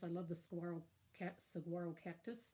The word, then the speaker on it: saguaro: the fun cactus I love the squirrel cap saguaro cactus not shirk that's how you say it